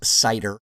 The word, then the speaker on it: CIDR: to be looking at cidr notation sometimes we're just pronounced cider but it really just as